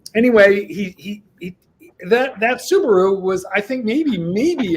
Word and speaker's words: Subaru: forest it's like the forest can we please pronounce it properly it's Subaru well he had the biggest super Subaru and